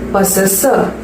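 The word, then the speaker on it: possessor: ஆர் அப்படிங்கிற word லாஸ்ட்ல வருது இல்ல, அது சைலண்ட். Okay, பொசஸர். இதோட தமிழ் அர்த்தம் என்னன்னா உடையவர்கள், உடையவர்கள்.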